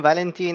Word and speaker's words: Valentin: England or Spain pronouncing my name is pronounced Valentin in French but it's not the easiest pronounce for everyone Val just works perfectly